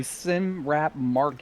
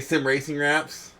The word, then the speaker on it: Sim Racing Wraps: had to do that we're sponsored by Sim rap Market did I say it wrong Ser yes you did what did I say sim racing wraps yes you did did